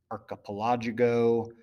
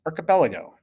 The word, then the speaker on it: archipelago: an archipelago okay so please try not to say it as an archipological or something like that it is pronounced archipelago and so an archipelago